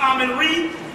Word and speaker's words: Amun-Ra: Yeah, you know, because Amun-Ra also can be pronounced Amun-Re or Amun-Re.